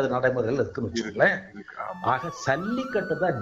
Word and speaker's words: சல்லிக்கட்டு: நடைமுறையில இருக்குன்னு வச்சுக்கோங்களேன் ஆக சல்லிக்கட்டு தான் ஜல்லிக்கட்டு ஜல்லின்னு சொல்லி வடமொழிச்சொல் ஜா உச்சரிக்க கூடாது தமிழ் ச தான் உச்சரிக்கணும் சல்லின்னு தான் சொல்லணும் ஆமா சல்லின்னு தான் சொல்லணும் ஜல்லின்னு சொல்லக்கூடாது ஏன்னா ஜல்லின்னு சொன்னா என்ன பொருள்னா